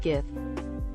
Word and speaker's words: GIF: went up and said it's pronounced Jeff not GIF jod himself could come